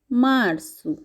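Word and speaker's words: março: ফেভরেরু মার্চ কে বলা হয়ে থাকে পর্তুগিজ ভাষায় মার্সু মারসু এপ্রিল কে পর্তুগিজ ভাষায় বলা হয়ে থাকে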